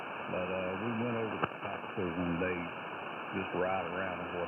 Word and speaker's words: Topsail: The locals pronounce it Topsail.